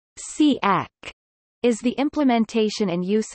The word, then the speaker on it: CAAC: composition computer-aided algorithmic composition caac pronounced siak is the implementation and